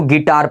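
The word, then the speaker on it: guitar: आया हुआ है भावेल तो हमारा यू का उच्चारण बिल्कुल नहीं होगा तो क्या पढ़ते हैं तो गिटार पढ़ते हैं इसको याद रखिएगा ये है देखिए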